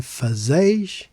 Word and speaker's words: fazeis: Fazemos and fazeis have three syllables, and unless there is a graphical accent, the stress naturally falls on the penultimate syllable, the one before last. Thus, we stress z, fazemos, fazeis.